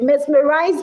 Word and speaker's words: mesmerized: Mesmerized because the word starts with mess doesn't mean that the word doesn't even start with mess. It starts with mez. It's a z. It's a z pronunciation.